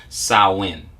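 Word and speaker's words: Samhain: they mentioned a couple of times has been sahwin right so if we look at saawan now it's uh s-a-m-h-a-i-n for those who would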